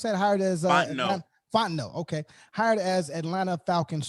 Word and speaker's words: Fontenot: going on um also uh we have terry fontenoy is that how you pronounce that hired as uh no fontenot okay hired as atlanta falcons first black general